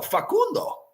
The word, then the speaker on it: Facundo: No, Facundo. There's no other way to say it.